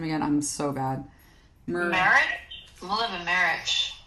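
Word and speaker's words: Mileva Marić: Mileva Marich. Mileva Marich, and Zelda and Scott Fitzgerald, as well as FDR and Eleanor.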